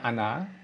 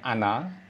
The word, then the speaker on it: Она: Terus ano, ano ini bacanya ana. Ana meskipun tulisannya ona tapi bacanya ana.